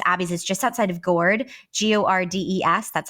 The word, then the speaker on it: Gordes: And one of the most famous abbeys is just outside of Gourd, Gordes. That's how you would like spell it if you're putting it Yeah.